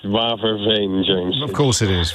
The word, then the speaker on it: Waverveen: Did I pronounce any of that correctly, apart from Netherlands? It's Waverveen, James. Of course it is, Waverveen.